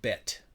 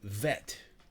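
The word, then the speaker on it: בֵּית: If it's got that dot, this particular letter, if it's got the dot, it's a B sound, like bet, because that is bet. If it doesn't have that dot, it's vet, like the veterinarian clinic, okay?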